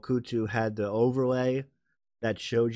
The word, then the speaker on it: Kutu: Kutu, right.